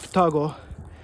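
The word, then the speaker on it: 双子: and it's pronounced Futago.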